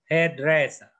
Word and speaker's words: hairdresser: Hairdresser.